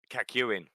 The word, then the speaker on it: Kakyoin: Am I pronouncing that right? Kakyoin? Kakyoin. Kakyoin. That's how they pronounce it in the anime.